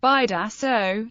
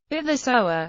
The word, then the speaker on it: Bidasoa: The river comprises an area of linguistic contact, so it is pronounced differently depending on the language, namely, Bidaso in Basque, Bidasoa in Spanish, and Bidasoa in French.